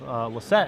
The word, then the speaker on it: Lossett: Also, I found out that his name, we found out earlier today that his last name is actually pronounced Lossett and not Lossett.